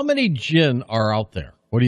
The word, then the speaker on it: Djinn: autographed and of course the gin is spelled n d-j-i-n-n it's a silent d right that's one of